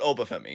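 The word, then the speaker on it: Oba Femi: There's only Um, one him in WWE, and his name rhymes with Boba Temi. yes. I'm so glad you didn't say it was Carmelo Hayes because I'm like, not anymore. It's not. But Obafemi, yes.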